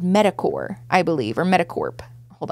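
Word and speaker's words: MedicCorps: ever metacorp so it's medic c o r PS which is core right that's how you pronounce that so they started this company medicor is a Christian us-based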